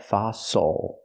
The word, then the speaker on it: fossil: true s sound F use the open a sound like hot and stop for the O fa F again not fil but fosil the stress is on the first syllable the second symol is not stressed so it's oo like muscle and castle fossil so we can